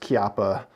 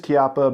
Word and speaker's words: Chiappa: made by Chiappa firearms and it is technically pronounced Chiappa sometimes I switched between capita and just because I'm I guess I don't care is really reason I don't pay much attention but it is Chiappa because it is an Italian family that owns